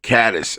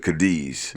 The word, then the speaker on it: Cadiz: It took me a while to adapt to Cadiz instead of Cadiz. Yeah. Yeah, because that's how you spell Cadiz, but it's Cadiz.